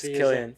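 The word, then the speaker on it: Cillian: silly because I was I used to say Killian Murphy all the time that's not you said it's San Murphy okay so no it's Killian you guys whoever said that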